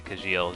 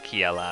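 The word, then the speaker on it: Kecleon: I'm never not gonna want to say Kajil just because I pronounced it that way for a long time, but it is Kiela, I'm pretty sure.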